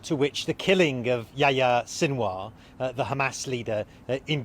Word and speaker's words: Yahya: I mean, I don't know how you say it in Arabic, but in Turkish, Yahya is a Turkish name as well. You say Yahya.